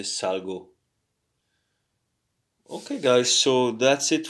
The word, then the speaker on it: salgo: You don't say salo, but you say salgo.